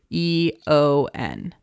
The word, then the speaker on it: aeon: yo and no it's a on what a e o n but it's pronounced Eon oh I'm not that smart okay